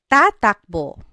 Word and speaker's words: tatakbo: Takbo in the future tense becomes tatakbo. Tatakbo sila. They will run. Tatakbo. Again, you're just repeating the first syllable.